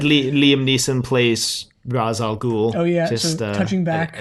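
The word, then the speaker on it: Ra's al Ghul: its current spelling but the creators of the character originally spelled and pronounced it r e apostrophe s h rash in rough translation the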